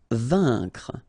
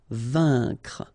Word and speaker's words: vaincre: Vaincre. A-I-N together. Here it's un. Vaincre.